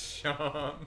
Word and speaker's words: Seam: Sham. Pronounced Sean. Oh, get it? It's like seam because he's like sewn together, like a sewing seam.